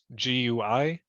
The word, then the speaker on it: GUI: And it's either run through a graphical user interface or GUI, G-U-I, it's pronounced GUI, or a CLI, which is a command line interface.